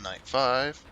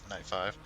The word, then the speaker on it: Knight V: hell that means um Knight V pronounced Knight five yeah Knight five a pair of night